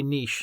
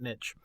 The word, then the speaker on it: niche: So, if you want to get in my good books, listeners, say niche, not niche. Because it's a quiche, not a kitsch.